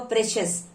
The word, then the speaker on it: precious: here also precious okay cio you should be pronounced like chess so remember precious delicious precious like that okay so two syllables